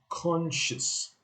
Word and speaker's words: conscious: mowing six more lower seven conscious con chess eight unconscious nine drew